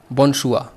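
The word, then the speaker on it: bonsoir: अब ये SOIR है ना, शुअर, तो लेकिन इसको हम बोलेंगे कैसे? बोनशुआ। आर जो है इसका साइलेंट है।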